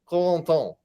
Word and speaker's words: Corentin: much as possible, like putting myself in mind of various French things, French fries, French bread. Yes. And then I say Corentin.